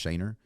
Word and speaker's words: Schoener: my personal instagram is a j-s-c-h-o-e-n-e-r yeah it's pronounced shayner again we'll put that in the show notes